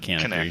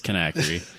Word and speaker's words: Kanakry: It's not Kanakry. Kanakry. It's Kanakry. There's no E in there, but...